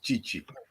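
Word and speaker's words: Tite: not selected by uh chichi t-i-t-e by the way but pronounced chichi in brazil uh a rohan rodrigo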